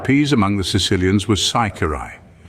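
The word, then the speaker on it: ciciri: The name of dried peas among the Sicilians was Saikirai. If the man pronounced the C with a chi sound, he was allowed to pass as being a Sicilian, but if he gave it an S sound, he was captured as being a Frenchman.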